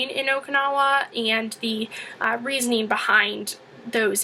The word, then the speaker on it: Abe: couple years ago Shinzo a who is the Prime Minister of Japan it's a not Abe just so you know you should know how to pronounce it um AB uh has